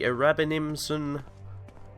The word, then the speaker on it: Erabenimsununmisnunninum: And this would be the Erabenimsununmisnunninum. That is indeed how you pronounce it.